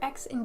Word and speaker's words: xi: Chi is the letter X in Greek. Xi is the KS sound.